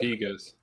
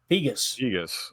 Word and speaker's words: Pegues: Then, of course, Pegues, I guess is how you said it. J. Cole said Pegas. Pegas.